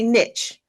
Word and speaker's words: niche: So everybody needs a niche or a niche, whichever way you want to pronounce it, and figure out who they specifically want to talk to.